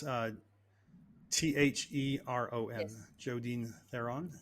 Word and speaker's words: Theron: that are listening, it's Theron, Yes, Jodine Theron, like and looking on LinkedIn or Facebook. Great. like the actress Charlize. She's also South African.